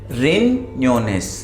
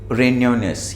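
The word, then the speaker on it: riñones: ये इंपॉर्टेंट है, याद रखिएगा क्योंकि प्रोनाउंसिएशन में बहुत से लोग इसको सही से नहीं बोल पाते। लोस रिन्योनेस, रिन्योनेस, बिकॉज ये एन्या है, ये वाला एन है, ठीक है, एन के ऊपर ये है, एन्या है, ये एन्या, ठीक है।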